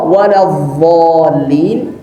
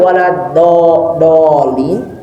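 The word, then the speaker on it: وَلَا الضَّالِّين: Baik, sering terjadi ya yang membaca dhad di akhir Al-Fatihah ini antara dha waladzallin atau jadi dal waladdallin, atau ada yang sampai baca walabdallin.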